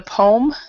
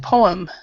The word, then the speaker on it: poem: way you pronounce the poem you had said poem so we actually don't pronounce this second vow so we say po po it's a very long